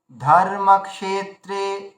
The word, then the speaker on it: ধর্মক্ষেত্রে: ধর্মক ক্ষেত্রে এই চারটেই দীর্ঘ উচ্চারণ করতে হবে। তাহলে কি করতে হবে, ধর্মক্ষেত্রে, ধর্মক্ষেত্রে, দাঁড়ান, ধর্মক্ষেত্রে, ধর্মক্ষেত্রে, দেখুন চারটে এবার দীর্ঘ হচ্ছে।